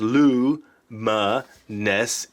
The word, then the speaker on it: luminescence: that glow in the dark starts with luminescence pronounced Lu MA nests into a guy named Lou yeah that's a